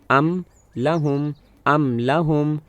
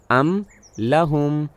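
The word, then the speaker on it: أَمْ لَهُمْ: یہاں یہ کہنا ہے ام لہم، تو میرے دونوں ہونٹ ایسے ہی اکٹھے ہو گئے میم کو واضح ادا کرنے کے لیے ام لہم۔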